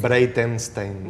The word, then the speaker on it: Breitenstein: Breitensteine. En aproximación. Más o menos. A ver, decilo vos bien, así no me quedo con la cargo de conciencia. Breitensteine.